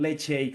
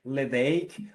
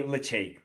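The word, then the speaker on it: Ledaig: produce two brands tobermory on one hand and leg shake on the other hand and you might be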